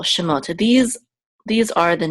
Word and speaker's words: Shemot: Mark here this pasta so we know that the accent of the words on the last syllable shimota these These are the